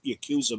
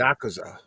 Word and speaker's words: Yakuza: The Prince says Batman Aztec was on the slate for animation with the Batman Ninja versus Justice League Yakuza movie. Yakuza. Yeah. Wow. Well, both pronunciations work, but thanks for playing.